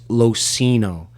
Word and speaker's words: LoCigno: It's LoCigno. The G is silent.